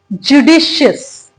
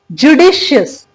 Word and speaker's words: judicious: पहले तो उसको प्रोनाउंस करना सीखते हैं। वर्ड है क्या वो भी समझते हैं। वर्ड है हमारा जुडिशियस। जुडिशियस, जुडिशियस।